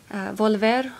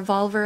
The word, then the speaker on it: Volver: people appreciated that one volver or valver as most people tend to to mispronounce it i cannot pronounce the